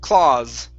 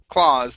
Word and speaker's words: claws: klaus this is claw claws claws the aw creates an ah sound we do not add an u there so it's claws claws claws good good just like